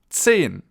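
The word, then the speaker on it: zehn: 10. So Z is pronounced TS in German, ts. And the EH is pronounced E.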